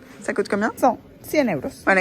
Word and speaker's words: Ça coûte combien: Ça coûte combien? Así se pronuncia. Ça coûte combien? Ça coûte combien?